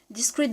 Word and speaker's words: discrete: in English there are two words which pronounce the same way discrete discrete this is our discrete